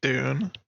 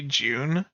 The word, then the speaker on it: Dune: A lot of Brits say June, as in like with a J.